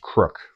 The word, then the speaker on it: KPYK: uh Bulgarian 74 with a full set of crook furniture on it uh crook as in crook a lot of you guys know him as kpyk it's pronounced crook that's KR u k and uh Ukrainian this